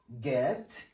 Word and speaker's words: get: So make G sounds, not J sounds, okay? So it's get. It's give, it's tiger, not jet or jiv or tiger, okay?